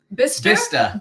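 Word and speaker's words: Bicester: takes place in um we learned how to say it it's by B bista bista bista Oxfordshire so it's just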